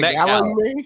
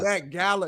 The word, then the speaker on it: Met Gala: The Met Gala. Met Gala. What's your beef with the Met Gala, homie? That shit it rhymes with hey, they, may, yay.